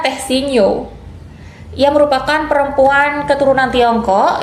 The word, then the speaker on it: The Sin Nio: Dibacanya Teh Sino.